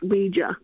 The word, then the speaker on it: Ouija: Google or Siri to pronounce it, it is pronounced Ouija, right? Okay. But it was originally called spirit boards, right? Okay. But it's but but most people pronounce it Ouija.